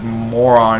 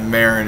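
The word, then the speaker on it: Marron: And he couldn't remember his own niece's name, so he says moron instead of Marin.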